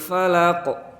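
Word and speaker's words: فلق: Kalau huruf qaf di surat Al-Falaq, qul a'udzu birabbil falaq. Falaq tidak terlalu gede. Jadi pantulannya itu biasa-biasa saja, tidak terlalu berlebihan.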